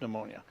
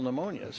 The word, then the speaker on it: pneumonia: Yeah, about 50 to 60% of pneumonias are caused by Streptococcus pneumonia. So you're getting maybe 50 to 60%. So you're not protection. protected against all pneumonias.